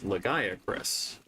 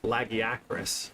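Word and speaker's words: Lagiacrus: Uh we read it as legac because we wanted to say it in a more easy lazy way. our friends who are more familiar with the Monster Hunter series said it correctly according to again uh the recent edition and voice acted uh Monster Hunter Wilds where they say laggy actress and where notably your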